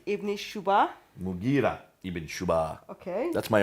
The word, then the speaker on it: Mughira: Sorry for the Abdul pronunciation. Qais. Qais. In Syria, Al-Muqarid ibn Shuba. Mughira ibn Shuba.